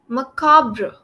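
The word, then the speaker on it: macabre: right attempt good attempt it's pronounced as macabra macabra that's how MRA okay macabra yes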